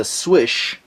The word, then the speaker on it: Slysz: should be called the Slysz Bowie C186 by Spyderco. Proper pronunciation, my understanding, is a Swysz, Polish pronunciation. He's a Marcin Swysz, I think, Polish designer, put this knife together in this collaboration.